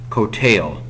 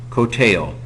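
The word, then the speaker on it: קֹטֵל: Well, one way to do it is to use the participle, kotel, long O, long E, kotel, killing.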